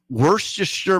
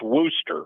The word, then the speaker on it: Worcester: Okay, Jay Giles is from Worcestershire, Massachusetts. Worcester. Same thing. Okay. He nailed it. You're on it then. Rick, what's happening? It's pronounced Worcester.